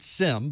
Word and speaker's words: SIEM: that on a sim we pronounce it sim but it's really siem that's a security information